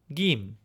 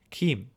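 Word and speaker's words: Գիմ: Gim with a hard G sound as opposed to a J sound. So Gim and then Western it's Kim.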